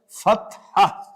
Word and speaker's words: fatha: For further convenience, you will find in the Arabic to English dictionaries that even the last H is not pronounced.